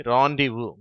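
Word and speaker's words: rendezvous: கூடி சந்திப்பதற்கு போடப்பட்ட திட்டம் ராந்திவு என்று அழைக்கப்படுகிறது இது சில நேரங்களில் அந்த சந்திக்கும் இடத்தையும் குறிக்கிறது இந்த வார்த்தையில வருவதும் ஆ என்ற ஓசை தான் ஆனால் நல்லாவே உச்சரிக்கப்படுகிறது ஆ என்று சொல்லி ராண்டிவு அடுத்து கீழே உள்ள வார்த்தை ஆன்ட்ரபிரனர்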